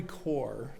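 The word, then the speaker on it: Kaur: My reading today comes from um Valerie Core. That's how the last name is pronounced and it's titled Wonder.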